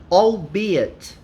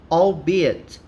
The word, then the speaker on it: albeit: about it is this the pronunciation of this word is a little exotic right is different from what i expected it is albeit albeit right which means even though